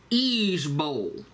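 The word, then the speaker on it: IJBOL: is IG I'm sorry i j b o l pronounced as each Bowl and it's an acronym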